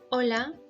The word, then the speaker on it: hola: Letra H is a silent letter. Do not ever read letter H in Spanish language. Hola, hermana, hermoso.